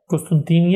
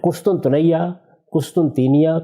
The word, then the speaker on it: قسطنطنیہ: فتح کر لے گا۔ قسطنطینیہ یعنی استنبول، قسطنطنیہ، قسطنطینیہ، یہ اس کے مختلف تلفظ ہیں جو ہمارے ہاں رائج ہے تلفظ۔ یہ استنبول ہے، اچھا،